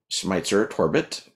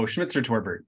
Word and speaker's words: Schmitzer-Torbert: there um so today my guest is Neil schmeitzer torbit did I pronounce that right oh schmitzer torbert but still it's a virtually uh Neil's a